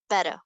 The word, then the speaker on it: better: better okay so better we're gonna turn these middle T's into a d and it's two syllables so better better so this stressful is going to be a fraction of a bit longer better better so you